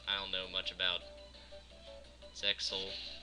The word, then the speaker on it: Zexal: don't know much about Zexal. Turns out you don't pronounce it Zeal like a friend of mine said.